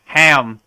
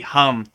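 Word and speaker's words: हं: protect their self like when you read it you would say like ham but it's really hum right so in in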